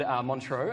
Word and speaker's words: Montreux: So you've reformed and you've got this brand new song out called Montreux. Am I pronouncing that correct?